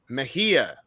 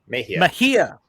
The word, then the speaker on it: Mejia: Mejia. Mejia.